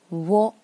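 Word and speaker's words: を: 下面是窝，这个假名应该念成的是窝，但是因为口语里面有时候不好读，所以有的人就发成了哦，他要读成窝，窝，窝。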